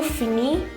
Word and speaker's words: finit: So je finis, tu finis, il finit, elle finit, nous finissons, vous finissez, ils finissent, elles finissent. So for il and elle, you'll have to pronounce it as finis.